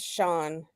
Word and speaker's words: Chan: that way Sean yeah it's ch H an but it's pronounced Sean yeah yeah she's she's